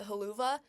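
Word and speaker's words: Helluva Boss: how you pronounce it I'm pretty sure it's hell of a boss like hell of a boss it's not spelled like that like I pronounce it halua because that's just the way that I've always said it because that's how I read it the first time and also I can't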